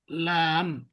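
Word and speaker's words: لام: এরপর আমরা আরো কিছু শর্ট ওয়ার্ড, যেমন এটাকে বলে, লাম, ঠিক আছে? কিন্তু এটার জি উচ্চারণ হয় আর বাংলাতে লয়ের মতো, ঠিক আছে?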